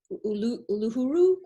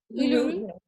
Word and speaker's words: Uluru: we didn't end up going to, is it Uluru? Is it pronounce it? Uluru.